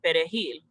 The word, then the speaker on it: perejil: would stop people and have them say perejil which means parsley in spanish but if you speak haitian creole it's very difficult to pronounce the r so soldiers would kill